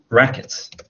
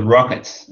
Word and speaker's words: racket: So it's, you said 2 rackets. But I think you got that word mixed up with rockets. If you're playing badminton, that instrument is a racket.